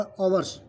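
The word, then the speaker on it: hours: इसी प्रकार यहाँ पर देखते हैं आवर्स, इसे बहुत आवर्स बोलते हैं, लेकिन ये इसमें एच साइलेंट होता है। यह एक्चुअल उसका जो उच्चारण है वो है आवर्स।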